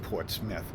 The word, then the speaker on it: Portsmouth: This is a Portsmouth, and actually some people pronounce it differently, but everybody up here calls it Portsmouth.